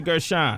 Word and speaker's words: Gershon: Is it un or un in Connecticut? It's un. Say what's up to Gina Gershon. Rhymes with fun.